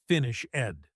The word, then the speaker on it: finished: The word finished ends with an e d. But when we speak, we don't say finish ed. We say finished. It ends with a t sound.